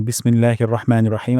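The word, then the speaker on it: بِسْمِ اللَّهِ الرَّحْمَٰنِ الرَّحِيمِ: তারপর রহমানির এখানেও উচ্চারণ করব, রা উচ্চারণ করব না। সেকেন্ড, আর শেষ হলো লাস্টলি হিম উচ্চারণ করব। হা উচ্চারণ করব, যেন হিম না হয়ে যায়।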